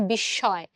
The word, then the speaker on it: বিস্ময়: সো বিস্ময় শব্দটার উচ্চারণ যদি তোমরা একটু করো তোমরা দেখবা যে এখানে যে মটা আছে সেটা কিন্তু একটা যুক্ত বর্ণ হিসেবে আছে এবং এই উচ্চারণটা কিন্তু আমাদের অনেকটা নাসিক্য উচ্চারণ হয়। তুমি উচ্চারণ করে দেখো, বিশ্বের বিস্ময়, বিস্ময়। তো এই জন্য আমরা এখানে একটা চন্দ্রবিন্দু দিয়ে উচ্চারণটা আসলে এইভাবে করছি।